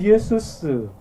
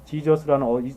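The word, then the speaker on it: Ἰησοῦς: 그래서 예수라는 이름의 의미를 아는 사람은 그 예수스, 헬라어는 그대로 우리나라 발음하고 비슷합니다. 영어에서는 그냥 지저스라는 엉뚱한 이상한 발음으로 가버렸는데 원래 헬라어가 예수스, 우리나라 말도 예수 그대로 번역됐죠.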